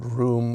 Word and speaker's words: Rome: Do we know whether or not Abigail pronounced it room or Rome? It's a bit uncertain. She does spell it the traditional way. Uh but there is a lot of historical precedent for being pronounced room.